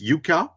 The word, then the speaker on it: Jukka: It's Yuka isan. How do you pronounce it?